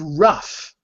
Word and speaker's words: rough: The IPA symbols next to rough show you that the GH is pronounced like an F.